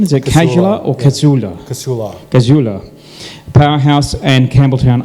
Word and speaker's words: Casula: Is that the correct pronunciation? Is it Casula or Casula?